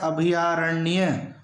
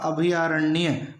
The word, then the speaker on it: अभयारण्य: है और साथ में उसका शुद्ध उच्चारण होता है अभयारण्य दोस्तों यह महत्वपूर्ण शब्द सही उच्चारण होगा अभयारण्य अभयारण्य अगला शब्द उज्जवल उज्जवल